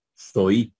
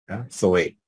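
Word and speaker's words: ζωή: verdad Z Omega eta si fuese en en si tuviésemos utilizando el sistema de pronunciación histórico moderno entonces dijéramos sois verdad soy pero estamos usando el erasmiano Zoé bien y con esto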